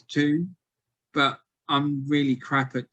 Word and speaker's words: Toon: So the Toon thing comes from apparently the Geordie pronunciation of town, which is Toon, but I'm really crap